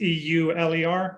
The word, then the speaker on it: Euler: mfts okay perfect and that by the way that's spelled it's e-u-l-e-r right yeah it's after the mathematician it's pronounced